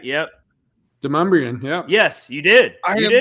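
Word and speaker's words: Demonbreun: But it is Demumbrian. Demon Brewing? Not Demon Brewing.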